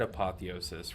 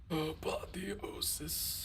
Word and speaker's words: apotheosis: is so good and I say apoth because I'm pretty sure I pronounced the full thing wrong apotheosis no actually I can confirm that I pronounce it correctly because there's a boss one of the bosses of the raid last tier said apotheosis right apotheosis something I don't